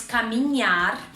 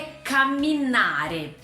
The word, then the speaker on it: camminare: ele é bem parecido então não é mais caminhar é caminar tá o terceiro é verbo